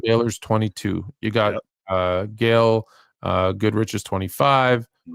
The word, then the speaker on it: Goodrich: You got Gail Goodrich's 25. I always call him Godrich, by the way. I don't know why I know it's Goodrich, but I always call him I always get everybody's name wrong.